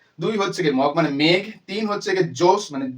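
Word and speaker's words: Meg: এরপর তাদের আরেক বোন আছে তার নাম কি মেঘ এম ই জির মগ বলে দিও না ঠিক আছে তারপরটার নাম কি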